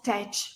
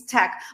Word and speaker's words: tech: do you work you work in Tech not tach please don't say tach it's wrong uh believe it or not but even uh people with Upper Intermediate English say this word incorrectly so it's Tech by the way this is your pronunciation lesson